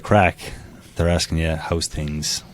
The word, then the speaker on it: craic: We'll have a tent there as well, and my band called the Craic, which is spelled Craic. Which anybody that's been to Ireland, somebody walks up to you and says, "What's the crack?"